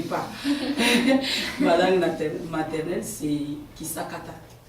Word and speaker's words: Kisakata: Ma langue maternelle, c'est Kisakata. Kisakata, comme tu l'entends.